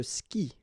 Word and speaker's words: skie: And it's exactly the same rule, so you've got this after, but then clearly you don't pronounce it, okay? Elle joue. And then, je skie, okay?